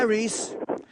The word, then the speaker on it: Rhys: my name is Rhys hi Reese your name is Reese yeah yes that's correct do you spell it r h y s that's correct yes oh